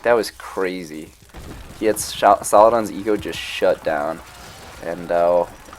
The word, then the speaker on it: Saladin: mean, we know from this AIV set files, Saladin is very strong. I think I've just been pronouncing that wrong this entire time. So that's unfortunate. Sorry if I'm making you cringe. Saladin.